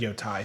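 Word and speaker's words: Yōtei: I wanted there um second pronunciation is correct y okay yo I I said yo Thai second yo Thai second okay here here write Tai or Tay yeah but um the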